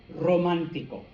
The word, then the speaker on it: romántico: Now, the last thing I have here, okay, is any R at the beginning of a word, okay, is the same as this, okay? So you still got to do the rrr, okay? So clase, rápido, romántico, okay?